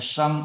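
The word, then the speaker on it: 生: Tetapi ketika hidup itu ada salib, nah ini huruf ini bacanya sheng, artinya lahir dan artinya hidup.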